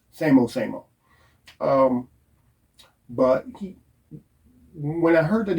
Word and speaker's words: SAMO: And that was on purpose because he wanted to build this kind of mystique around Somo or Samo, however you want to pronounce it. It was Samo.